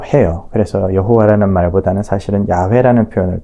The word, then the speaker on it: 야훼: 여호와라는 이 말은 사실은 자음 모음 체계가 완전히 자리 잡힌 이후에 그 발음이 여호와라고 이렇게 바뀌어진 것이고, 원래는 이제 야훼라고들 흔히들 이야기를 합니다.